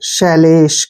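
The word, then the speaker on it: celestial: क्या हो गया शैलेश यहां पर जो टी आई का उच्चारण है वो श होगा जब भी टी आई ए इकट्ठा आता है तो टी का प्रोनाउंस हम श करते हैं ऐसे और ए एल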